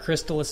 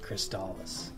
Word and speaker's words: Crystalis: what H see I I thought I thought Crystalis at first too but then I heard um I think it was Buster Rhymes pronounce it and he pronounced it kristallis right I love the